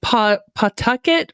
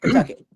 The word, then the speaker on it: Pawtucket: You pretend there's no W in there. Pawtucket. Pawtucket. Okay. Pawtucket. That's how you say it like a native. Pawtucket. There's no W, even though there's a W.